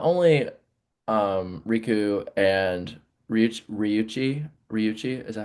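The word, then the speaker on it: Ryuichi: and when I'm watching them side by side to like the speed of not only Riku and Ryuchi, is that how you say his name?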